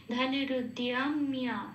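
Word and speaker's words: ধনুরুদ্যম্য: আর অন্তস্থ হলে যেরকম উচ্চারণ হয় দিয় সেরকম উচ্চারণ হবে। ধনুরুদ্যাম্য, হ্যাঁ, আবার ময় জপালাটাও সেম, হর্ষই প্লাস অন্তস্থ হলে যেভাবে উচ্চারিত হয় ময়ের সাথে লাগালে ঠিক সেভাবে উচ্চারিত হবে মিয়া।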